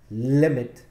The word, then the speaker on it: limit: One T, not doubled, because limit, the stress is on li, the first syllable.